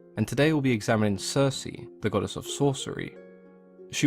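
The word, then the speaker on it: Circe: Greeks as kiriki but as is common with most of the words in ancient Greek that contained a hard k sound when they were latinized and anglicized the hard k sound became a soft C and we now refer to her as Cersei she was a daughter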